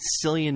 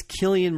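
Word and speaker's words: Cillian: courtesy of John schnip he called Killian Murphy selan Murphy of course Killian is in the upcoming Dunkirk he's the star of one of my favorite shows on TV that's pey blinders of course we all know him from The Dark Knight trilogy so remember it's Killian Murphy terrific actor you know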